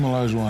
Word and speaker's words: Olajuwon: For those of you at home who don't know, Hakeem Olajuwon, am I saying it right? Olajuwon, yes.